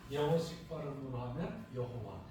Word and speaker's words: 여호와: 히브리식 발음으로 하면 야훼, 영어식 발음으로 하면 여호와.